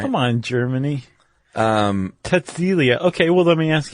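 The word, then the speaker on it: Cäzilia: The wife's name was Kazelia. Sigelia. Frank. No, if I'm not mistaken, if you begin a word with C in German, it's pronounced like a TS.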